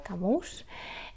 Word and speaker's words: Camus: favoritos que es Albert creo que se pronuncia camus es un escritor Franco